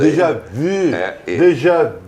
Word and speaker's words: déjà vu: Déjà vu. E eu quero te parabenizar, inclusive, pela pronúncia do U, tá? Pelo acento do U, porque exatamente isso.